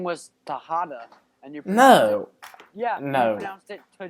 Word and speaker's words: Tejada: If you can get Tejada right, you can get Rojas right. It's the same thing. A silent J. You pronounce it. Okay, That's whatever. what- If you said know one, you Rojas? Okay, I've had enough of this school lesson. If you know one, you should know the other. They're the same thing. I've had enough of this. They're both pronounced with the H.